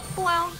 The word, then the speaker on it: Blel: pronounce his name? Blel. Blel.